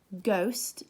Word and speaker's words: ghost: in them too so ghost there's an H in it but you can't hear it design there's a G